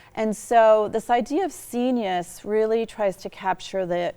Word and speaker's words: scenius: Used a great word when we were talking before, scenius, rhymes with genius.